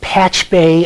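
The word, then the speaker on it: Pachube: It's pronounced Patch Bay.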